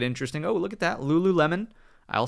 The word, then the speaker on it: Lululemon: Lululemon. I'll say it correctly this time. Not Lulu Melon.